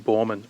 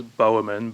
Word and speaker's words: Boerman: Well, I mean, at first glance, I did think it was Bowman, but uh yeah, I did a little bit of I did a diode and uh realized it was Borman, so Oh, good.